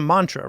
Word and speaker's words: mantra: talk about a mantra if you say it like how you would pronounce it in Sanskrit it's Mantra okay and um and you flip the r but when you what